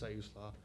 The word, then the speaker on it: Siuslaw: After Netart's Oceanside, I moved to Siuslaw Valley Fire and Rescue, which is further down the coast, and that's how you pronounce that, is Siuslaw.